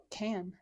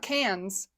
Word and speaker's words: Cannes: to pronounce it, and it said Cannes. Not cans. S is silent. I thought it was Canes.